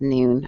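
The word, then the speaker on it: Nuun: I've done like these things called Nun tablets before, or they might be pronounced Noon.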